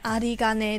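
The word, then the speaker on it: 有り金: 嘛，然后它跟阿里连接在一起变成阿里嘎呢，从卡变成嘎是为什么呢？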